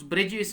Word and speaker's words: borough: Spelling है BOROUGH, ठीक है, बारो।